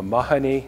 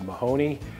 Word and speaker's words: Mahoney: especially special for me they pronounce my last name differently i'm a mahoney not a mahoney over in ireland but the food is